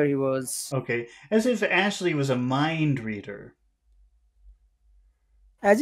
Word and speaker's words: Ashley: Ashley you've got asy raise your tongue so that the your tongue is blocking the air because the the the air goes through and it goes everywhere off to the sides and that's what makes that sound as yes yes raise